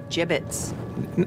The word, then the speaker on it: gibbets: out of here hey look avery had some gibbots left over gibbets what it's pronounced gibbets are you sure yeah well no one likes